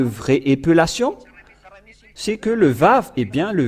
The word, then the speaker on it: vav: lettre araméen que le lettre vave se prononce bien vav ou V et c'est bien clair